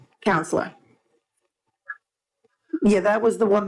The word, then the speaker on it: COUNSLR: Because it sounds like counselor, but it's spelled a little. Yeah, it's COUNSLR, counselor.